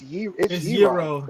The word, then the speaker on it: gyro: It's gyro. Yeah, it is gyro. Yeah, she's right. That might be the correct pronunciation.